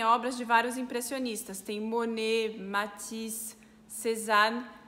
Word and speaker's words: Monet: É lindo, aquele quadro das ninféias de Monet tá lá. E no sobrenome do Monet tem um T e esse T fica mudo. Essa regra dos T's mudos varia muito quando é sobrenome.